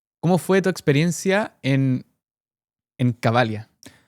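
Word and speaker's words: Cavalia: a saltar, pero ¿cómo fue tu experiencia en Cabalia o Cabalía, no sé cómo se dice. Cabalia.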